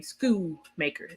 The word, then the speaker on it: Schoonmaker: out of Michigan, Luke Schoonmaker. That is how you say his name, Schoonmaker. The N is silent.